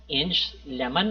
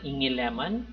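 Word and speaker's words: Inge Lehmann: discovered by danish seismologists so we pronounced it as inch lemon or inge lemon who studied shockwaves and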